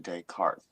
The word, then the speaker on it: Descartes: Pronounced Descartes.